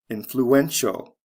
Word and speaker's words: influential: the next one influence influential spelling change from c e to t-i-a-l the syllable stress goes from the first to the third syllable influential look at the